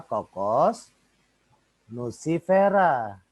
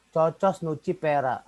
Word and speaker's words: Cocos nucifera: Jadi nih, kokos, kelapa itu adalah kokos nucifera, ya. Kokos nucifera. Ya gitu bacanya ya. Jangan cocos nucifera. Nah, itu salah kalau baca gitu.